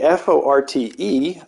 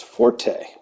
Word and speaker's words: forte: of that blade and it's pronounced Fort whereas the music is forte with the e sound and due to uh